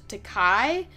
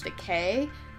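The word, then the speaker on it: Takei: i it's very confusing i know a lot of people call him george takai but i'm pretty sure it's actually george decay he is a big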